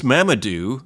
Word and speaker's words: Mamadou: My name is Mamadou, Mama plus do, so I think Mamadou, if I'm pronouncing that right.